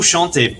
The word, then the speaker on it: chantez: The easy ending is pronounced a, which means the Z is silent. And if you drop the vous, it's just a classroom command. Vous chantez bien is a sentence that means you sing well.